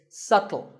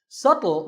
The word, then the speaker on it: subtle: this word how would you say it it's subtle the bee is silent subtle means something that is difficult to notice or